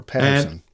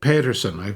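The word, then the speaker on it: Pettersen: Or Pedersen. They pronounce it Petersen.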